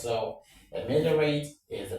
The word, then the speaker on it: ameliorate: Of course, when you have a word ending rat, most of the time the stress falls on the third syllable from the back, okay?